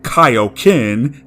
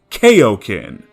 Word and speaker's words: Kaio-ken: Another prominent one is mispronouncing Kaioken as Kaioken. Don't be so sure. I'll have you know I was trained in the art of Kaioken. Kaioken! KO whatever! No, wrong!